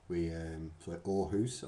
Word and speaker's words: Aarhus: Aarhus, as it's pronounced.